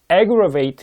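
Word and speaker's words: aggravate: 단어가 정말 중요 왜 이는 첫방 이 단어는 발음이 에 그럴 베이트 라고 발음하고 요 밑에 있는 것은 발음도 어렵다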